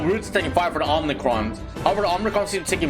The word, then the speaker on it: Omicron: I've been saying it wrong for 10 years. I just looked it up. It is Omicron.